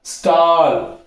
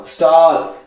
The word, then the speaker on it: stall: அப்ப இது எப்படி சார் படிக்கணும்? ஸ்டால். புரியுதுங்களா? எப்படி படிக்கணும்? ஸ்டால். அப்ப STALL வந்துச்சுன்னா எப்படி படிக்கணும்? ஸ்டால் அப்படின்னு படிக்கணும்.